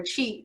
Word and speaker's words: qi: So in Chinese medicine, you all have probably heard of the word qi, or chi.